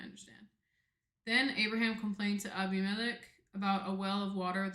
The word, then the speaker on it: Abimelech: Abimelech.